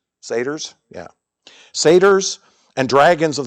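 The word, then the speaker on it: satyrs: We also saw there the hobgoblins sa how do you pronounce that? Sats or satars. Saters.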